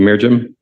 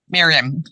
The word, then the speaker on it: Miriam: comment please thank you mirim is it merim or mirim Miriam Miriam okay yes thank you